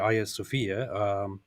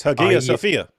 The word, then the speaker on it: Hagia Sophia: is actually I think the most accurate Greek pronunciation would be like it's Hagia Sophia. No, it's Hagia Sophia. It's like no, it's not. They have an H. Yeah, it starts with an A that has an aspirate breathing that makes it an H.